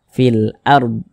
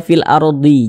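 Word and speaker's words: فِي الْأَرْضِ: kan kita matikan begitu sehingga dibaca fil ARD Jangan dibaca fil ardhi jangan kemudian di sini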